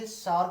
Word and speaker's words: क्षार: क्षार के साथ कराएं, हालांकि उसे क्षार ना करके क्षार कहा जाता है, शुद्ध प्रोनाउंसिएशन यही होता है क्षार, क्षार के साथ जब